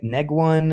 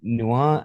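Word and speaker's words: Nguyen: Neguan and Dr. Nuan?" And I'm like, "It's it's probably Dr. Noan because it's Vietnamese."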